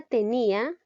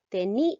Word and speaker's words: tenía: ahora veamos la palabra tenía nos damos cuenta que es una palabra grave tenía a llevar la mayor fuerza de voz en la penúltima sílaba y las graves no